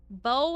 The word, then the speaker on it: bow: Bow and bow. Yes, I know they're spelled the same, but they're pronounced differently. To bow, to give a bow is different than to have a bow or to give a bow. Not even to mention bows like what you shoot with.